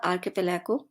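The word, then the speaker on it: archipelago: is known as आर्किपेलागो इसको सही pronounce कीजिएगा आर्किपेलागो दीप समूह अ प्लेस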